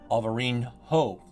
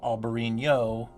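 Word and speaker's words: Alvarinho: this beautiful white wine alvareen ho instead of albarino it's aberino yes well uh it's a different kind of new uh in spanish you have the end with the little squiggly line so that's a new sound in portugal in portuguese you have the nh but it's still the neo sound so it's same pronunciation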